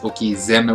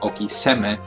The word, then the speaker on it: Okizeme: And the reason it's pronounced Okizeme with a Z and not an S, not Okiseme, is when you do this, when you combine words like this in Japanese, the first letter of the second word often changes its pronunciation. So S's become Z's, H's become B's, K's become G's, and so on.